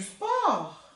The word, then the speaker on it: sport: Tu fais du sport. Du sport. Né? Faz esporte. Sport. Ainda não pronuncia o T, tá bom?